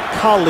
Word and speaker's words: Khalil: And he prefers his name to be pronounced Khalil, and I'm really not going to question it.